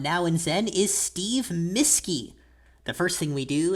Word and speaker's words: Mueske: When I was little, I used to say, pretend you've got a teacher and her name is, and then change the accents.